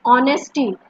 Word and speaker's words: honesty: H will be silent. It is honesty.